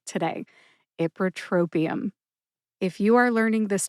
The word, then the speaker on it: ipratropium: error and I do say it correctly today ipratropium if you are learning this drug name for